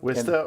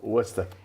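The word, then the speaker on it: Worcester: It's either an I or an O sound. Wista or Wusta. And all the E R's end in an A.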